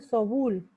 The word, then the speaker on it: Soboul: Al gran Sobul. se escribe Soboul, otro que hizo un compendio de la Revolución Francesa, hizo varios compendios.